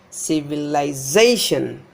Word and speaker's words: civilization: Civilization, civilization, civilization. This Z is stressed.